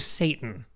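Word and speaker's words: Seyton: is dead he's named Satan I right spelled differently but it's named Satan and it's phonetically Satan how is it spelled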